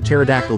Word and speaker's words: pterodactyl: Why can't you hear a pterodactyl go to the bathroom? Because the pee is silent.